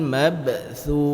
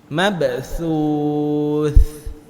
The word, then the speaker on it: mabthuth: Huruf sa ini di antara huruf yang ketika diucapkan lidah kita harus melewati gigi seri. Mabthuth. Kalau kita letakkan jari kita di sini kena mabthuth.